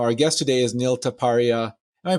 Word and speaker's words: Taparia: conversation you know our guest today is neil taparia am i pronouncing that right yeah it's good enough what what's the right way taparia there we go okay neil taparia entrepreneur investor